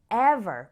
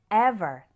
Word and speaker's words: ever: let me quickly call your attention to a pronunciation difference we say even with an e like in c but we say ever with an sound like in get repeat after me even ever even ever let's start with ever this word